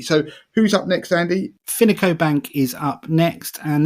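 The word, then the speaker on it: Fineco: they are essentially a bank finico by the way is spelled f-i-n-e-c-o bank or one word finico bank and these are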